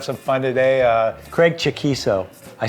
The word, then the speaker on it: Chaquico: we're gonna have some fun today uh Craig chaquiso I said it for you yeah I just found out that's how you pronounce his name yes I always over all